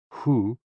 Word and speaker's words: HOO: HOO, pronounced like hu, which is associated with the spleen, and XI, pronounced like shi, which connects the whole body.